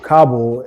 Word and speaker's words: Kabul: And with regards to Kabul, you kind of pronounce it funny, like Cabo in Mexico, but Kabul is the capital of Afghanistan.